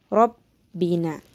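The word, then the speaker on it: رَبَّنَا: Lalu yang terakhir terdapat lafaz Rabbina, yaitu merupakan qalqalah kubra, yaitu merupakan terdapat huruf qalqalah yaitu ba, sehingga bacanya pun harus ditekankan, lebih ditekankan lagi, Rabbina.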